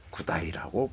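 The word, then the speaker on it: G'day: 그때 기억이 자꾸 살아나고 그때도 호주가 A 발음을 무조건 I 발음으로 한다. 그래서 구다이라고 배웠었습니다.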